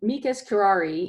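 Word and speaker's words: amicus curiae: is a Latin phrase it's probably the most mispronounced Ray's in litigation and the law does use a lot of latin phrases so we use this one quite a bit and amigas kirari is what it's it's Latin for friend of the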